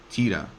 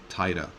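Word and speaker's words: Tiida: the latter was based on the C11 Nissan Tia or Tia that's spelled TI i d a it began production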